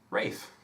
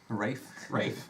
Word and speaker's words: Ralph: Ralph? Rafe. Rafe. That's how we pronounce it. Rafe Vaughan Williams.